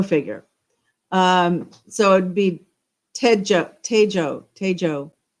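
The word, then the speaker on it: Techo: Uh so the brand new TCO International Airport uh it's actually it's uh a ch is pronounced more like a J.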